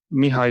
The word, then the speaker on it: Mircea: Mircea is the short version. I'm happy with that. Don't worry too much about it. Mircea. Okay. Yeah, it's good. But it is not pronounced that way.